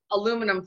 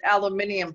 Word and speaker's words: aluminium: you people don't know you might have thought aluminum foil but it's aluminium foil did they spell it